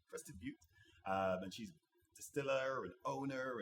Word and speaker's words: Crested Butte: If she hears this, she'll say, Ian, you said it right, Crested Butte.